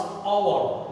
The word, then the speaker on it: hour: Instead of that, we pronounce hour, not hour.